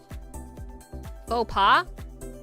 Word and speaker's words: faux pas: How do you pronounce this? Faux pas?